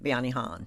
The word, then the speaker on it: Bayanihan: Am I pronouncing the festival correctly? Bayanihan. Yes. Bayanihan.